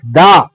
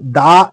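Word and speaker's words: the: একটি ব্যঞ্জন বর্ণ দিয়ে কোন ওয়ার্ড যদি ভাওয়েল দিয়ে শুরু হয় তাহলে তার আগে উচ্চারণটা হবে দি আর যদি কনসোনেন্ট দিয়ে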